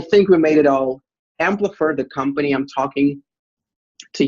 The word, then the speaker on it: Amplifr: So it's Amplifier. Right. Because it's AMPLIFR.